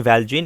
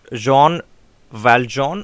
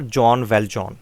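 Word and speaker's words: Jean Valjean: one k basis in character set now the pronunciation is not actually g in valgen it is in french it is it is john valjean or john valjean okay uh this john valjean is actually a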